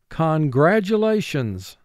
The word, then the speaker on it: congratulations: Now this is a five-syllable word. First syllable, kong, three sounds, k, ah, ng. Gra, three sounds, g, r, a. Now the third syllable we're going to exaggerate it slightly for spelling purposes, and we're going to say tu, two sounds, t, u. Lay, two sounds, l, a. Sean's, four sounds, sh, ah, n, z.